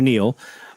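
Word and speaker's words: Niel: You can search for Greg or Neil, which is spelled N I E L. So, search for Neil or Greg and look at their programming notes.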